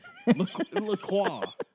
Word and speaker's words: LaCroix: La Croix.